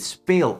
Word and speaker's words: speel: Therefore, we add an extra E to spell and then we pronounce it speel again.